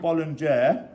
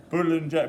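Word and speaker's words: boulangère: Now this is called bollinger. I probably not pronounced it right. We've got a French lady in the room actually. How do you pronounce it? Boulanger, meaning bakery.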